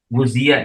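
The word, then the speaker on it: غُذِيَ: Qauluhu wa ghudhiya bil haram ai, dan huwa bi dhammil ghin wa jama wa tahfiz zal al maksurah. Guzia, ini bacanya guzia.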